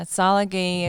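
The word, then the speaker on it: Tsalagi: Yeah, Salagi is Cherokee.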